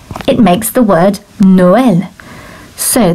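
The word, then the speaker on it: Noël: it makes the word noel so the second vowel is separate to the first one so it gives you two syllables or two beats to that word noel makes the sound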